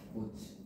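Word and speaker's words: 꽃이: 근데 얘는 발음이 하면 어떻게 됩니까? 꼬치. 어떻게 돼? 꼬치. 그렇지. 발음하면 꼬치가 되죠.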